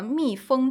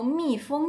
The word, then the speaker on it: 密封: 易漏的都密封起来。它跟那个蜜蜂嗡嗡嗡嗡动物的蜜蜂是一个发音哦，蜜蜂，中文好有趣哦。